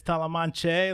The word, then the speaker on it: Tollemache: Tollemache. Tollemache. To me, there's an N in there somewhere, and there isn't, and it's Tollemache, like Don Quixote.